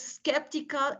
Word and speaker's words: skeptical: Well, he looks skeptical every time the teacher say that. So as you can see, the stress is in the first syllable.